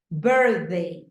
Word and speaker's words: birthday: a noun a noun remember the rule 80% of the two syllable words are a stressed on the first syllable most of the nouns